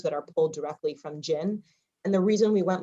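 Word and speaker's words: GIIN: to be really helpful is called gin it's spelled g-i-i-n and what it is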